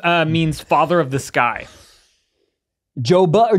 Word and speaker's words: Jove: Joba or Jova? Jove. How do you spell it?